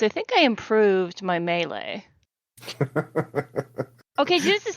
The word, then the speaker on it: melee: It's melee. Mm-hmm. Everybody's so fancy. French word, right?